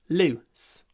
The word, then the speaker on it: loose: is weird anyway lose loose I don't want to lose my loose sweater I don't want to lose it's long loose my loose it's short loose loose sweater loose loose and